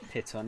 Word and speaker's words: piton: I'm assuming it's pronounced piton anyway, rather than like python.